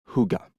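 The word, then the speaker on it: hygge: trois pièces en version Huga prononcé Huga à la Danoise sobre chic minimaliste mais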